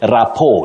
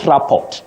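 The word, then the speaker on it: rapport: you say moral and you say rapo not raport and not morale morale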